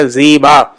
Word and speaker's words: زیبا: پڑھنے کے لیے زی، یعنی آپ زے اور با کو الگ الگ پڑھیں، زی زی، یعنی اردو انگریزی میں اگر آپ زیڈ یا زی اور ڈبل ای کا استعمال کریں گے تو یہ تلفظ بن جائے گا زیبا، خوبصورت کے معنی میں آتا ہے.